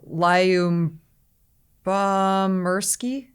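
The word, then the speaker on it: Lyubomirsky: her last name would you like to to pronounce this absolutely not lion bomb mursky there you go yeah that's it describe what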